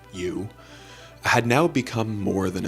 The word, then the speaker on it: EU: James's AI, which was named You, spelled EU, but pronounced You, had now become more than a chatbot.